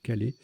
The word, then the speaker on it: kale: Sioux aussi, mettant Kale, pardon, on peut prononcer Kale ou Calais, au pluriel, en 14J, ça fait aussi 48.